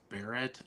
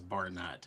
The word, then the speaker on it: Barrett: Throughout my entire life, everybody has pronounced Barrett as Barnett.